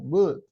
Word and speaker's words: would: into W would yeah forget about the L in the pronunciation would okay future continuous future